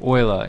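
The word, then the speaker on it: Euler: this transform dot angles or Oiler is the actual pronunciation I believe um if you want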